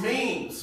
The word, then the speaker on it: memes: ] got people making me means of me me means of me stop tweeting you have to rap and it's pronounced memes bro me wait why I